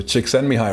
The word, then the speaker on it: Csikszentmihalyi: Most people can't pronounce his name, but Kotler taught me the pronunciation. So Csikszentmihalyi wrote a book called Beyond Boredom and Anxiety.